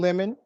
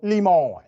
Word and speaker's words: Lemon: of Buzz about Don limon's appearance at the UTA party so let's highlight some of these Dynamics on Fox News Carlson intentionally mispronounces the name of Don Lemon he calls him leemon all right he's been